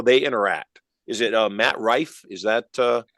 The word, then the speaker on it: Matt Rife: Is it Matt Rife? Is that how you pronounce his name?